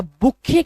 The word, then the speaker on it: bouquet: अच्छा, बुके का स्पेलिंग बताना है। बुके, इसको लोग ना बुकेट बोलते हैं। बुकेट नहीं, ये बेसिकली बुके होता है। टी को साइलेंट किया जाता है।